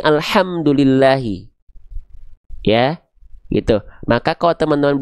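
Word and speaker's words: الحمد لله: seperti sebagaimana kita melafalkan alhamdulillahi kalau pakai H besar ya maknanya jauh dengan yang seharusnya alhamdulillahi ya gitu.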